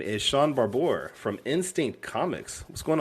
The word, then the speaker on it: Barbour: No, he's saying it right. It's Barbour. Okay. Yeah. No. I'm like the only person in the world that says it right. But I'm used to Barber, Shaun the Barbarian, whatever.